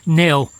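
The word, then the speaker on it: Knill: today's two thankful Villages Neil I hope that's open actually it's spelled k-n-i-l and this afternoon has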